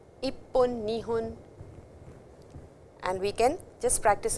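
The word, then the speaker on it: 二分: So after me you could repeat ippun, nihun, nihun, and fa over here is actually how you blow air out. If you cannot say that, you can always say hun, it doesn't matter.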